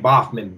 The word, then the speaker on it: Baughman: of and then my last name boffman b-a-u-g-h-m-a-n yep and i had